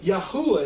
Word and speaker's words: YaHuWaH: all time, Ahmed Deedat, admits in his book, The Name of God, that YaHuWaH is the correct pronunciation and that he knows this according to what he knows about Hebrew and Arabic.